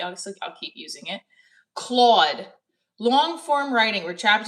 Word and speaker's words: Claude: Boom. Claude. What's up, Claude? Rhymes with mod.